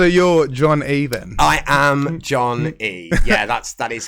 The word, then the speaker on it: Jon Ee: yeah man so you're john even i am john e yeah that's that is correct that's not john e uh no it's just pronounced john e yeah um so the the name came from